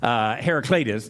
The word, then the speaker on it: Heraclitus: from Ephesus and there is a guy named Heraclitus did I pronounce that right David that I think I think you're right when I said Heraclitus is how you pronounce it Heraclitus david's our resident philosopher so Heraclitus lived in